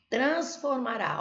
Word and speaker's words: transformará: Transformará. Ó, essa aqui é o quê? É uma oxítona. Porque a sílaba tônica é a última. Transformará, ó.